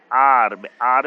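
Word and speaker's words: hour: आर में H silent होता है, और पहले ब्लैंक में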